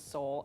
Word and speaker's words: Soule: spelled s-o-u-l-e-f-u-l right because my last name is Seoul s-o-u-l-e and that's also what